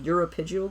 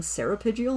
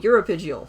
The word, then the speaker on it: uropygial: preen glands yesterday, and apparently I'd been pronouncing their technical name wrong. The correct term for a bird's preen gland is the uropygial gland. For some reason I'd been saying ceropygial, and I don't know why. So it was good to go back and look at it and be like, oh, uropygial.